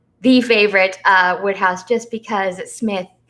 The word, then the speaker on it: Psmith: It's probably one of my favorite, if not the favorite, Wodehouse, just because Smith, the P is silent, as in shrimp, Pshrimp.